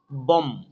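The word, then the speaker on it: bomb: যেমন দেখি বম, এখানে কিন্তু be silent, বম, BOM, বম।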